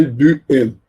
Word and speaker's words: Duhem: Pierre-Maurice Marie Duhem, sei lá, pronunciando em francês é Duhem. H é mudo em francês.